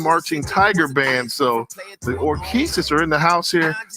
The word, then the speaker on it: Orchesis: Can you pronounce that word, Tiffany, on the bubble, what I got there? Orchesis.